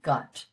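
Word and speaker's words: gcat: GC is pronounced with that G, gut.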